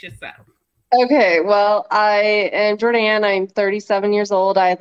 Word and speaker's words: Jordanne: say welcome to Miss Jordina. How are you doing? Hello, I'm good. I'm good. I'm doing fantastic. Awesome. Am I pronouncing your name correctly? It's Jordan. Jordan.